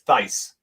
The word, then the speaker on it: Thaiss: It's Thaiss. Thaiss. Okay, Matt Thaiss. Yeah, I looked up his pronunciation on BREF.